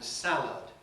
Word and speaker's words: salad: kind of english because in a word like valid i have a different vowel from what i have in salad salad ends in lud valid ends in lid australians typically say valor